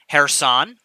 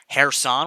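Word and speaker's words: Kherson: that are occurring in hair san sorry to pronounce that correctly there hairson without a k anyway hairston here again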